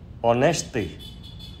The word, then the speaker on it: honesty: Vì hát câm nên cái âm đầu của những chữ này là O. Và vì O là nguyên âm nên chúng ta phải dùng mạo từ ân trước những chữ này nha các bạn.